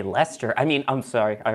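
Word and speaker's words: Leicester: wants you to say Lester I mean I'm sorry I already broke that one yeah it's Lester I was I've been to Lester so I know it's Lester that's hey Ryan Worster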